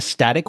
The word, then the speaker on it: STATIK: And I call this thing a static workshop, which you may have heard me talk about in other episodes. It's spelled STATIK, and it stands for the Systems Thinking Approach to Implementing Kanban.